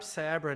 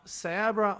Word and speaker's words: Cyabra: But yeah, it's actually just Cyber and Abracadabra, as in, because it's like ancient Aramaic, Abracadabra.